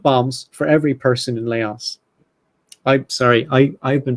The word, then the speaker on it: Laos: a ton of bombs for every person in Laos I sorry I I've been pronouncing this place Laos for about 40 years